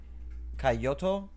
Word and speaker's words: Kyoto: You want to try to pronounce that word for me there? Kyoto.